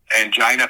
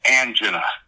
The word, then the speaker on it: angina: And the medical director on the set kept telling me it's angina. And I said, "Well, I've never heard it pronounced angina. I've always pronounced heard it pronounced angina." No, it's angina angina.